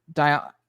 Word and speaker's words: Diogenes: Diogenes, is it Diogenes or Diogenes? Diogenes. Okay. That's how Jeremy pronounces it, so I'm going to go with that one.